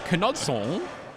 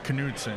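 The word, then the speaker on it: Knudsen: Will I am Kudson? Uh, here. I believe it's Canudson. Now, the the Danish pronunciation is Canudson because of course it's referring to the old King Canude.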